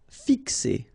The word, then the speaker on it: fixer: Fixer. Okay, remember X here, x, x, fixer.